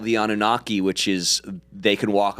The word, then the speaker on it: Anunnaki: Anunnaki? Anunnaki.